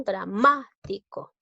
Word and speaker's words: dramático: y lavar a mano dramático es una palabra esdrújula porque dramático debe tildarse